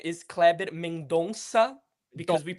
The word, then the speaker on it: Mendonça: Uh because his name is Cleber Mendonsa because we it's that C with a little snake underneath that we pronounce it kind of like an S.